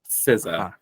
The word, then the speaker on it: SZA: SZA. SZA. That is not the sound that a Z makes, and I refuse to say it properly.